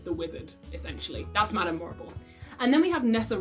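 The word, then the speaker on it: Morrible: sure madame marble well her name rhymes with horrible what did you expect she has a sort of diluted version of umbridge who is working with the wizard essentially that's madame morable and then we have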